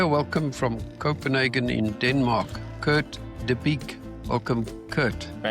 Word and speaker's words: Kurt De Bique: Welcome from Copenhagen in Denmark, Kurt Deique.